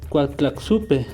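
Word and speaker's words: Coatlaxopeuh: En el catolicismo se estima que Guadalupe podría provenir del término náhuatl Cotlaxopeu, que se pronuncia Cuatlaxupe, con el que su valor fónico resulta parecido al de la palabra en español Guadalupe.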